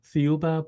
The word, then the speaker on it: Thiaoouba: you say it again please it's called the fuba prophecy the golden Planet beautiful beautiful can can